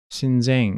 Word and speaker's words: Xinjiang: 신쟁 이렇게 발음하네요.